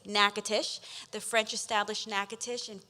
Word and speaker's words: Natchitoches: heard of an aquatician I was very quickly pronouncing it incorrectly Natchitoches but it is nakatish the French established Natchitoches